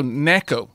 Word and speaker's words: Neko: Oh, no, so Neko, not Nico.